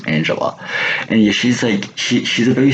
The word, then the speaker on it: Angela: Our main character is Angelina, or is it Angela? Sorry, that's how you say pronounce her name, Angela.